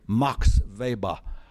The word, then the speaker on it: Weber: It's a classic Think of it, think of it as Max Weber, but American academics lack the self-confidence to pronounce anything in American English. So they all say Mox Va.